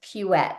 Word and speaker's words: Puette: no it's it's like it rhymes with you bet so it's pet it's a and an